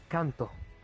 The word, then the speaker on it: Kanto: It's like Kanton, but without the last N. Oh god. Ah. Though his is spelled Konton. His is K-A-N. K-A-N. Kanto.